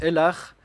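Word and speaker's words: אֱלָהּ: L'araméen, qui est une langue proche de l'hébreu, a un terme apparenté qui veut dire Ella, qui se prononce Elar.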